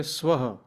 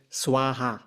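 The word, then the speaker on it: स्वाहा: say if you say omura so we say swah but many western renderations say swaha you see so could you say that again? Could you say that again? So the original word is swaha swaha.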